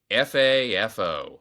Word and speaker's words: FAFO: F AFO, often pronounced Fafo, is based on the